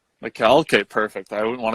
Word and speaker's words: Mikael: So before I butcher your name to start out with, how do you pronounce your name completely? It's Mikael. Mikael?